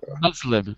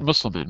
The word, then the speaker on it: Muslim: or people Muslim uh it's Muslim Muslim countries not musliman Muslim Muslim uh is important for example